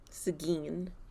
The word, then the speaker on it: Seguin: hotel in seguin texas seguin i looked up that pronunciation i was not going to say seguin before i before i saw that pronunciation did not guess that content warning for